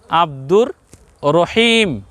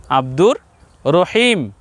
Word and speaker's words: আব্দুর রহিম: লিখি কি আব্দুর রহিম আমরা মানুষের নাম রাখার সময় আমরা কিন্তু আব্দুর রাহিম বলি না আমরা কি বলি আব্দুর রহিম নাম কিন্তু আল্লাহর প্রিয় নাম পছন্দের নাম তো ওখানে আমরা র এর উপরে আকার বসার পরেও আমরা রা বলি না আমরা বলি কি র নাম বলছি আব্দুর রহিম